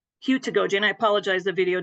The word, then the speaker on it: heutagogy: Okay, I'll just go right back to my – The correct pronunciation is heutagogy. Heutagogy, and I apologize, the video didn't work.